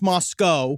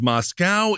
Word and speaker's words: Moscow: It is pronounced Moscow. I did not realize that. I thought it was Moscow.